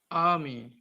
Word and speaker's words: army: Remember, R is silent here. Father, burn, and army.